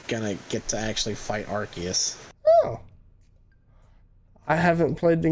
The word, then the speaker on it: Arceus: how you say it it's arceus that's a new one i haven't heard anybody say it like that asus yeah acers no i've always heard i've always heard people say it like are arceus well anyways that comes